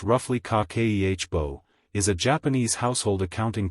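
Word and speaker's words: 家計簿: Kibbo pronounced roughly kakehbo is a Japanese household accounting practice built around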